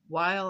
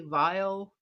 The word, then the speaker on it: Weill: political satire composed by Kirk Wild while I believe that's pronounced with a like a vile to um a German Liberto by Berto Bre.